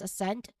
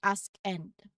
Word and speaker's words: ascend: The C here is silent, so it's pronounced as ascend. We don't not say ask end.